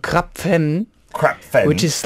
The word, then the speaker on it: Krapf: When they read it in English, it sounds like crab. Yeah, right? Or with a P the other there. crab. But when you pronounce it in German, it's Krapf. Krapf.